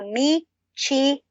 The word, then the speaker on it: michelada: Oh, that is what you call a michelada. Okay. A michelada is an alcoholic drink made of what? Ay. Okay. Michelada drink.